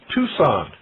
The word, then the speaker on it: Tucson: Tucson, Arizona. For those of you who haven't been out west here, Tucson is spelled T-U-C-S-O-N.